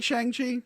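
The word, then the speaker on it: Shang-Chi: Shang Chi which man I think you like shangshi it's pronounced that way that is one one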